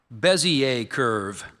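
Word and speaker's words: Bézier curve: Your word is bezier curve.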